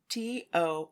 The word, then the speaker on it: Tohoku: the ghosts of tohuko okay how do we spell that t-o-h-o-k-u tohoku okay the unsolved mysteries episode is called